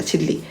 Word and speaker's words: 진리: 진리. 자, 여러분 진리는 진리라고 발음하는 게 아니라 진리라고 발음해요. 이유는요, 니은과 리을이 인접하게 온, 그죠? 비음화가 아니라 유음화에 의해서, 유음화. 자, 유음이 바로 리을을 말하는 겁니다.